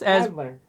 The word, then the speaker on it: Adler: Adler. Did I pronounce that right?